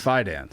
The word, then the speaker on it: Fidance: Oh, it's Fidance. Fidance? It's like finance with a D.